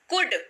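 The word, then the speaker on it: could: वक्त हमेशा बताती हूं कि कुड का उच्चारण कैसे करें एल को बोलिए चुप रहो और उसका उच्चारण मत करिए तो चलिए आज आपकी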